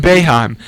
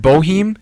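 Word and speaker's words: Boeheim: Jim bohim beheim beheim there we go Jim beheim I've heard it say he's the second most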